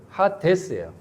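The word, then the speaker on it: ᾅδης: 그래서 하디 발음 대세오스 하데스예요.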